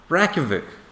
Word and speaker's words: Reykjavík: Every time Americans pronounce the capital of Iceland Reykjavik, they pronounce it Reykjavik. Reykjavik. It's not Reykja, it's Reykja. Reykjavik. And Reykja just basically means smoke.